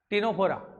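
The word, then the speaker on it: Ctenophora: देखिए बेटा एक चीज तो पहले लिखा दी दंश कोशिकाओं का अभाव लिख दो पहला पॉइंट इन सिलेंटेड प्राणियों में टिनोफोरा माइनर फाइला टिनोफोरा सी साइलेंट माइनर फाइला टिनोफोरा इन सिलेंट्रेट प्राणियों में दंश कोशिकाओं का अभाव होता है।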